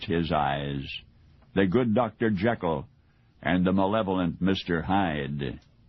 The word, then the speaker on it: Jekyll: Most Americans, myself included, have always pronounced the doctor's name as Jekyll, though Robert Louis Stevenson argued that it was pronounced Jekyll.